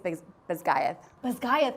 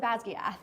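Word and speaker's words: Basgiath: war College they attend so I say it's B bayth bayth oh my gosh I was totally off I said basg and that's a more Gaelic spelling so or more pronunciation so that can be it can be right I say best GTH because of just how I constructed the words the full name of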